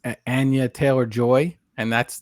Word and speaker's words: Anya: So it's Anya Taylor-Joy, and that's the correct pronunciation of her name is Anya. It's not Anya. I've been saying Anya. Yeah, it's Anya. Anya.